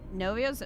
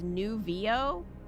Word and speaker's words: Nuvio: Novio's pronounced, oh, it's Nuvio? Nuvio, okay. Well, I'm sure I've upset everyone thus far by pronouncing it incorrectly. Thank you, Crab.